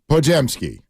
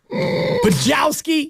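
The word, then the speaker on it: Podziemski: Pajemski. Poughkeepsie Kid. Yeah, he said it wrong. Poughkeepsie Kid. Brennan mispronounced his own last name. Pajowski.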